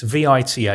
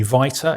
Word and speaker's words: Vita: can say to you here's a word it looks like it's vita. It could be viter. It could be vita. It could be vita. All I've got to say to you, Joe, is it's pronounced Vita.